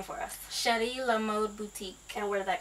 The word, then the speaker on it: Chéri La Mode: chrishana and she has the mobile Boutique Now pronounce the name for us sh La mod Boutique and where did that come from so